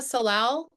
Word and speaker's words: salal: And that's because it flowers and has beautiful So Use salal a lot.